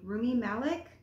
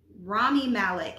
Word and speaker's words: Rami Malek: I think that's how you pronounce his name. Rumi Malek? Rami Malek.